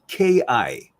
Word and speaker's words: ki: The ki is spelled not QI, spelled KI. Chinese call it chi, Japanese call it ki, it's KI.